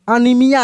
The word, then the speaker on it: anaemia: जैसे LG है, जैसे बताए हम LG है, ठीक ना, एरियल है, अनीमिया है, बीमारी का जिसका नाम है ANAEMIA होता है, ठीक ना, अनीमिया है।